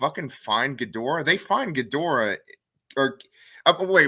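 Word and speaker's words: Ghidorah: gdor okay yeah it's just the way you pronounce it GH i d h o r a yeah gadora okay okay you're thinking of hedora who is than you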